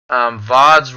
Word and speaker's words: VODs: VODs rhymes with bods.